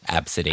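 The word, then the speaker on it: Abcd: Absidity.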